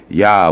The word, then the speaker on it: Yah: The religious attendants calling to Yah to enable them humbly to supplicate seems to point out to the Hebrew custom of pronouncing it Yah, which likewise signifies the divine essence.